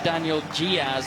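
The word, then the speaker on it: Daniel Dias: Well, if you want to say it right, it's actually Daniel Diaz, apparently.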